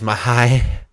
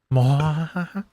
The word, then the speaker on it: Moraes: Assuncao versus Mahai. Marlon Moraes. Mahai. Moraes.